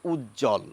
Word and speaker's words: উজ্জ্বল: যখন বফলা যুক্ত থাকে সেই ব এরও আমরা কোন উচ্চারণ আলাদাভাবে করি না আমরা বলি উজ্জ্বল এবার দেখুন আরেকটি শব্দ